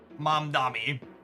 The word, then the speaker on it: Mamdani: Mamdani. Did I get the first one right? Zoran? Shout out to asking how to pronounce something and getting 3 different phonetic descriptions from chat.